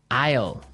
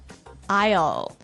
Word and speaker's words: aisle: We don't pronounce the S. The S is silent.